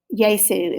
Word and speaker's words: Yesu: Now, guys, Yesu is how they're pronouncing Jesus.